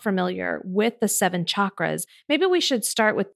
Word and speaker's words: chakra: And for people who are not familiar with the seven chakras, maybe we should start with defining what those are and how they show up for people.